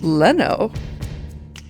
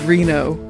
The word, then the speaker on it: Reno: sir I haven't decided Leno in the uh in the other translations his name is Reno and that's the pronunciation that they go with in F English voice acted pieces to the series